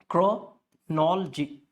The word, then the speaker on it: chronology: Because chronology. This O you don't have to use. This O you don't have to say. So you can say chronology, chronology. Null should be clear.